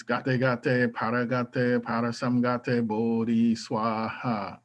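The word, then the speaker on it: svāhā: So the way you would say this is gate gate, paragate, parasamgate, bodhi swaha. So the SVA is pronounced like swa.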